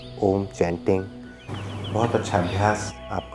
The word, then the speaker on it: ओम: 3 बार ओम की ध्वनि यानी ओम चैंटिंग करते हुए आ, ऊ और माँ, इनसे मिलकर बना ओम। ओम के माध्यम से लंबा गहरा सांस भर के ओम चैंटिंग बहुत अच्छा अभ्यास आप कर सकते हैं।